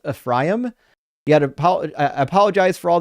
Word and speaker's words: Ephraim: I know it's pronounc it's pronounced Ephraim. Yet I apologize for all the Americans that say Ephraim. It's Ephraim.